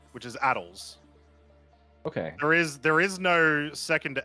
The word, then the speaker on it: ATLS: The way that it's spelled, which is Addles. Okay. There is no second A in that vehicle. If you read it, it is ATLS, which is clearly pronounced Addles.